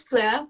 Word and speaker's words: FLØRE: Yeah, Is that how you pronounce it? it's FLØRE, but Yeah.